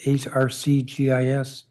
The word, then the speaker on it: ArcGIS: The council should demand that the Office of Planning use the ArcGIS, ARCGIS tools in preparing its analyses of proposed zoning actions. I'm being told how to pronounce it.